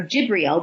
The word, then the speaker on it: Jibreel: guided by the angel Gabriel or jibreel would be another pronunciation of the name but that Gabriel has